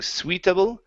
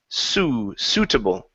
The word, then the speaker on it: suitable: This word right here, the I is not pronounced. So instead of saying sweetable, sweet, It's suitable, suitable. Suitable.